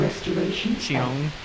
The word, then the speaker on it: Xion: Also Axel and Xiong. Which is how you pronounce her name, by the way.